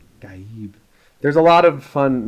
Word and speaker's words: Gaib: It's not Gaib. Gaib.